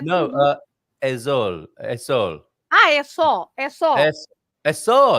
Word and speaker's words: é só: É só. Okay. Yeah. So S-O with an accent on the O. Só. Is it?